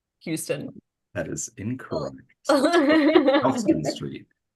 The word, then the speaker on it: Houston: Pronounced Houston because it was not founded by Sam Houston.